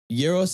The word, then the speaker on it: Gyros: I used to say gyros. Now I say gyros. Right? Yeah. Euros is correct, but I would say